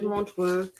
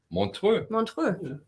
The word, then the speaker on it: Montreux: absolutely so five euros another digital three at Montreal Ella Fitzgerald this one was 12 Euro also Pablo live but you pronounce the city sorry Montreux did you know that uh Smoke on the